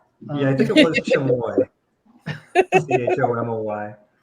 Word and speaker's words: chamoy: Yeah, I think it was chamoy. CHOMOY. It's Yeah. now going to be Chupacabra. Chamoy, CHAMOY. Chamoy. I think I'm pronouncing that correctly.